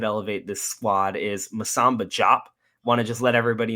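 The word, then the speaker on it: Diop: this squad is Masamba Jop. Want to just let everybody know it is Jop, not DOP. We received the pronunciation guide from the team themselves. So Masamba Jop is how it is pronounced.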